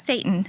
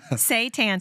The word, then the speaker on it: seitan: I'm glad you said Not that. Satan. Not Satan. Seitan. Seitan.